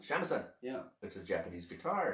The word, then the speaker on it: shamisen: Shamisen? Shamisen.